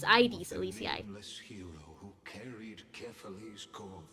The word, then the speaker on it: Aedes Elysiae: This is ID. I have been saying it wrong. It's ID Alicia. Hero who carried carefully core flame. I have been saying it like AIDS and not like the other sickness which is ades like